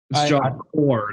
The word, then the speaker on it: Corps: corpse in my life so core not corpse is it cor is it core I thought it was corpse no you you don't you don't pronounce the the P or the S corse well like for